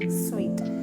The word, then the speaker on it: suite: അങ്ങനെയുള്ള റൂം കിട്ടുന്നതിനാണ് നമ്മൾ സ്വീറ്റ് room സ്വീറ്റ് room എന്ന് പറയാം. സൂട്ടല്ല, സ്വീറ്റ്.